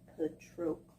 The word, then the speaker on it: Patroclus: It gave a pronunciation of the name. I really needed that. Patroclus.